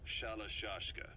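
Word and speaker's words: Shalashaska: known about that because somewhere along the line shashka got stuck on the end of sharak aska the gorillas were using the name amongst themselves by the time I got to hearing about it pronunciation had wound up as Shala shashka so half gulg half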